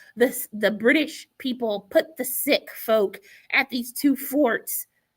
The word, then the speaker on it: Sikh: And I know a lot of Americans, you hear the word pronounced Sikh, but they pronounce it Sikh. It's spelled S-H-I-K, Sikh. I think I spelled it right. I probably didn't spell it right, but I'm saying it right.